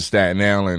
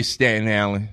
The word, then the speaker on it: Staten Island: But moved to Staten Island, and it was just a whole different world for me.